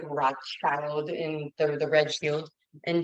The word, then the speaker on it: Rothschild: in German it is spelled Rothschild um it's pronounced like Rothschild in the red shield in German and he